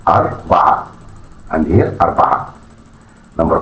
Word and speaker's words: أربعة: It is pronounced أربعة أربعة أربعة.